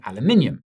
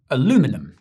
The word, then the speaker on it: aluminium: Tensions then intensified as Trump raised tariffs on steel and aluminium, or aluminum if you prefer to say it wrong.